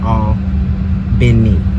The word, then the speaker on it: Albany: here i'm going to own vinnie georgia it's pronounced spell albany as in albany new york but here in the south we pronounce it all been neat and you know i'll leave it on the